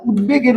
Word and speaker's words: উদ্বেগ: যেমন উদ্বেগের উচ্চারণ হচ্ছে কি যে উদ বেগ।